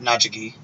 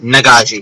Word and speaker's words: Nagaji: that was the Nagaji. Or not, Najagi. I know the one. They're very similar to Vishkanya, except they are, I can look at the name to get the pronunciation right. Nagaji, it is.